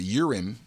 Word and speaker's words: Urim: So that's the priests, the Levites, and the Urim.